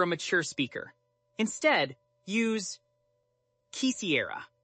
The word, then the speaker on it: quisiera: Instead, use quisiera. Quisiera.